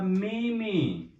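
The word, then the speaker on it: 妹妹: Then I'm going to write the fourth one, that is a meme. It's mean younger sister. Meme. I'm going to write the pronunciation meme.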